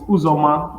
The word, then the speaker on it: Uzoma: you pronounce it yeah it's a short form it's uzoma but uzor is a short form